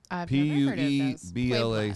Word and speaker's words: Puebla: you probably heard that the pooh public tunnels p-u-e-b-l-a city citizens of puebla pueblo pueblo colorado good pronunciator you're a good pronunciator located in the